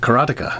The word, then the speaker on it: Karateka: Atari 7800 charata k karateka karateka that's it karateka I think I got it alright so another